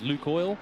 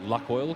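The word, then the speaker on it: Lukoil: got that beautiful Luke, I think it's pronounced Luke Oil. I don't want to call it Luck Oil because I don't know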